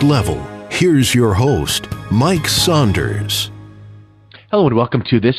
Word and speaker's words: Saunders: well you know I with my name Saunders I get Sanders a lot so I really try